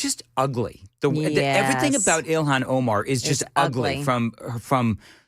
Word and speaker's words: Ilhan Omar: So, the Ilhan Armar thing. I can't ever say her name. Ilhan Omar.